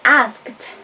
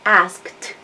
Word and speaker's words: asked: Acá, Woody asked. Woody preguntó. Y por cierto, la pronunciación, my friend, es asked. Como una T al final.